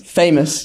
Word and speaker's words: FAMOS: There's also um FAMOS which famous famous. Yeah, we had like a debate around how to pronounce it.